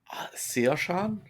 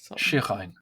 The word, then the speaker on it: Shirhain: Was it Sioshan? Shirhain. Shirhain. Yeah. It's like 2.5 syllables. Shirhain. I'm doing too many syllables. Okay. Shirhain. 2.5 syllables, 4.5 vowels.